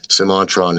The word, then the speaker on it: Semantron: to the extent that basically simantron is sort of like the closest guess that linguists have as to how that would have been pronounced.